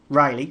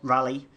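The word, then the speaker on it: Raleigh: Jas is piloted by Riley or rally I I call them Ry it's rally it's rally yeah it's like it's like the bike it's like the B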